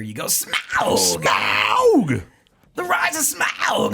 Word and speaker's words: Smaug: I think the true pronunciation is like you're supposed to sound like an '80s rocker. You go Smaug, Smaug, the rise of Smaug and the death of Smaug.